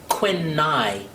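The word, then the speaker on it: Quynh: her name is uh Quin NY they they put their names backwards you know in that culture spelled q y n h NH hi I I think it's pronounced Quin n and um so we've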